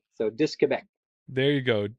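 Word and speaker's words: Disque Québec: Oh, Disc Quebec. Yeah, because disc in French is DISQUE, and so they use the QUE and just run right into Quebec. So Disc Quebec.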